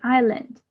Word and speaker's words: island: Okay, we say Iceland, but we don't pronounce the letter S, so it will be island.